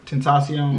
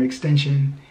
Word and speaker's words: Tentacion: But yeah, T Grizzley, like, I like how, and he actually pronounced his name right, Tentacion. Yeah. Where other people be calling him Extension and Tentention, whatever.